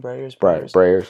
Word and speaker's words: Breyers: And with certain, how do you pronounce it? Breyers ice cream? Breyers, yeah.